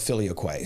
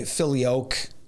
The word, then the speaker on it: Filioque: Now, there is debate over the pronunciation of Filioque. Some say Filioque, others Filioque, take your pick.